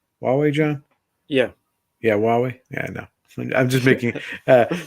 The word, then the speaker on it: Huawei: Huawei, John? Yeah, Huawei.